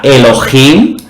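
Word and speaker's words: אֱלֹהִים: Y si pulsamos vemos que se pronuncia Elohim.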